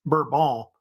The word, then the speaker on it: Bourbon: However, if you know about it, the French don't pronounce it that way. They say it Bourbon, by the way. But in the United States, they start saying Bourbon because of Bourbon County, which is up in Kentucky, where they started making bourbon whiskey.